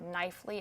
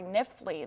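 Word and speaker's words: Knifley: it's right over the town of knifely at this point just out I'm sorry niffley that is I mispronounced that town so the town of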